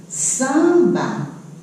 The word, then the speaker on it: samba: Eu ouvi esse som aqui do S, eu ouvi o som do A, mas eu não ouvi isso aqui, porque o nome dessa letra aqui é M.